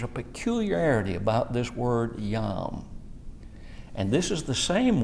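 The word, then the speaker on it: יום: But here's the word day, yom. And this is an interesting word. The E is silent there, and it's pronounced yom.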